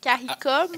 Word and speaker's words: CARICOM: Est-ce que je le prononce comme il le faut? CARICOM?